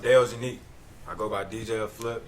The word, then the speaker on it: Deojunique: chopped up but uh it's pronounced dale's unique i go by dj